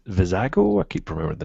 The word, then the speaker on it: Vizago: Sabine Stormtrooper and V vizago I keep remember the name wrong yeah the I always call him cilantro cilantro Bago but it's not cilantro um Wicket and Baker